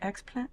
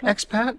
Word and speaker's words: expat: Is it explant? How do you say that? Explant? Expat, yeah.